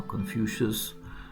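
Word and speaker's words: Confucius: like like the definite mention by confusus uh confucious that's how you pronounce it uh third Century mentions of famous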